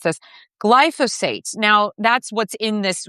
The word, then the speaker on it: glyphosate: environmental lawyer, crusading against against glyco I always mispronounced this glyphosate.